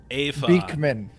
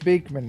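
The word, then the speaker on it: Beakman: my name is Professor a Vic Minh no it's big man professor beak beak man there you go pronounced just like that yes yes do you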